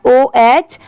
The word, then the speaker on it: oh: इसे क्या प्रोनाउंस करें, तो इसे O पढ़ेंगे, O, ठीक है। यहाँ पर H लेटर आप साइलेंट भी कह सकते हैं, अगर आप O भी पढ़ेंगे तो भी चलेगा।